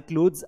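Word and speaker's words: clothes: यह जो आप लिखते हो ना बेटा तो यहां पर आपको इसको द प्रोनाउंस करने की कोशिश करना है। क्लोज क्लोथ्स पूरा द भी नहीं है लेकिन हल्का द है। क्लोथ्स माय क्लोथ्स are very dirty. क्लोथ्स नहीं थ नहीं पढ़ना है।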